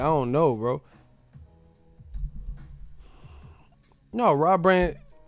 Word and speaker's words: Brandt: No, Rob Brandt. This motherfucker said Rob Grant. He didn't even say his name right. That's what his name is, Brandt, bro.